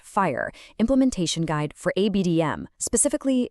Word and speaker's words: FHIR: In India, this is defined by the FHIR pronounced fire implementation guide for ABDM specifically version 6.5.0.